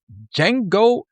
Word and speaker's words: Django: And this week we chose Django Unchained. The D is silent.